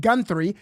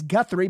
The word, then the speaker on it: Guthrie: He's saying the last name wrong. He's saying Gunthy. It's Guthrie, but you're well informed though.